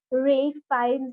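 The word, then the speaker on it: Ralph Fiennes: can tell something about ray fines that's how he's pronounced in uk yeah yeah real this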